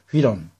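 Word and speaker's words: εὗρον: 자, 여러분, 그 다음 동사 휴리스코, 휴이론이죠. 중모음으로서 위 발음 난다 그랬죠. 휘론, 휴리스코, 휘론, 현재형, 기본형이며 이거는 부정가거, 제2 부정가거입니다.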